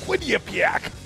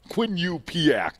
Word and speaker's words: Quinnipiac: Dominic, we shared a little of the Quinnipiac. They stick a U in the middle. There's no U there as I see it, but according to the pronunciation guide, Dom, there's a U in there somehow. Quinnipiac.